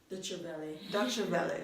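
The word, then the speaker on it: Deutsche Welle: Dutch Valley, that's how you pronounce DW.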